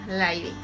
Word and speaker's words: Leydig: Esta hormona afecta principalmente a las células de Leydig, que se escriben Leydig, pero bueno, ya habíamos dicho que se pronuncian Leydig.